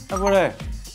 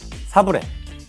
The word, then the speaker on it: 사브레: 샤브레. 땡. 정확히 발음을. 샤브레. 샤브레. 사브레. 정답.